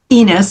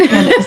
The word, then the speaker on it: Ennis: And it's not Enos. Somebody used to call me Enos. I'm like, it doesn't rhyme with penis. It's Ennis.